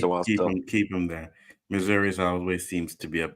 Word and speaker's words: Missouri: Missouri. That's how you pronounce it.